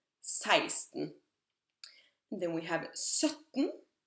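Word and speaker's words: seksten: 14, 15, 16, and please make a mental note of how different the pronunciation of 16 is from the way it's written. It's written like sexten, like the number 6, sex. However, it's pronounced 16, 16.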